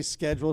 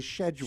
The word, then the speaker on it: schedule: in some people say schedule some people say schedule schedule well that's that's British versus American who says that what's